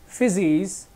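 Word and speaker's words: φύσις: Physics, ये देखो ये ग्रीक वर्ड है, ठीक है, अब जिसको प्रोनाउंस किया जाता है फिजिस, ठीक है, इससे एक शब्द आया फ्यूजेस, जिससे बना फिजिक्स, ठीक है।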